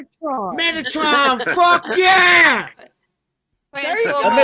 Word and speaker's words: Metatron: Featuring the how do I pronounce this? Metatron. Metatron.